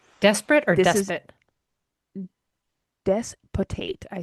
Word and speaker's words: despotate: Oh, Like despot, Tate.